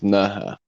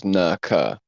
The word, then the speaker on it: Nerja: So in Spain, in the south of Spain, there's these caves called the caves of Nerja, also usually pronounced as Nerka, right? Spelled Neja, I think. Nerja, right? Or Nerja, pronounced, right?